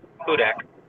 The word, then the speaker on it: Hudak: And it's only got like 11 followers, and but I saw it because John Hudak, how do you say his last name? Hudak.